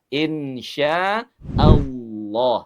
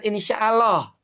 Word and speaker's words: insya Allah: Insya Allah. Nah, tuh bukan insyaallah. Insyaallah. Nah, tidak ya. Tapi insya Allah.